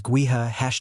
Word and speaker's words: Gowith: Gowith is Gaelic and means wind. Yes, the pronunciation is Guha #fox confirmed.